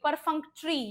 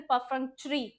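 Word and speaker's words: perfunctory: परफंक्ट्री, परफंक्ट्री या फिर परफंक्ट्री दोनों सही हैं प्रोनाउंसिएशंस।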